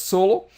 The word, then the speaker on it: S010: Anyway, this would pronounce as solo, and I'm talking about the solo coder.